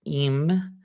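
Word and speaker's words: ־ים: Pronounce "eem", which is the plural for all male or combined collection of male and female.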